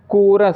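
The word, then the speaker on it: chorus: जैसे कि कोरस, सी एच ओ आर ओ यू एस, सी एच ओ आर यू एस।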